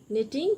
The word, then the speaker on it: knitting: and rose are knitting knitting k is silent knitting means stretching by